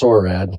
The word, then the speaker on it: Orrad: Orrad, is that how you say it? Yeah, it's Orrad.